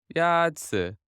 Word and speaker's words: 鸭子: 鸭子 Is pronounced with a first tone. In Mandarin, there are 4 tones, which are essential to distinguish the meaning of words. The first tone is a high, level tone.